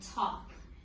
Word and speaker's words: talk: So the LK makes one sound of the K because the L is silent.